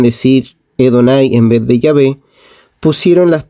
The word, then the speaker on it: Yahvé: Por supuesto, la palabra Jehová nunca ha existido en hebreo, es decir, que la pronunciación Jehová es una pronunciación defectuosa del nombre de Yahvé.